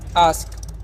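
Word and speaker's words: ask: जब भी ए के बाद एस के रहेगा ना तो ए का उच्चारण क्या करना है? आ करना है।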